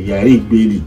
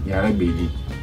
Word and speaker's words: Yari Beli: C'est Yari Beli, elle était de teint clair. Donc, finalement, par manque de prononciation ou par mauvaise prononciation, on dit Yara Beli.